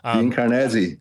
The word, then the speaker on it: Karnazes: Dean Karnazes.